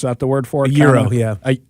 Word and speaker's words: gyro: Euro. It's It's pronounced euro. It's spelled gyro. G Y R O I think is what it is, but it's it's euro.